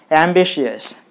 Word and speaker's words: ambitious: So you put the stress on the syllable B, then it will be ambitious.